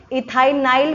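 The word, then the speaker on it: ethynyl: लिए क्या लग जाएगा, ई जो है साइलेंट हो जाएगा, यहाँ पर इथाइनाइल ग्रुप हो जाएगा यहाँ पर ये।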